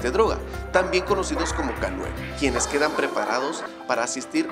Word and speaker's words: K9: Estos perros son llamados K9, por sus siglas en inglés, dada la pronunciación conjunta con la letra K y el número 9 en inglés, los cuales resulta en el sonido canine, similar a canino.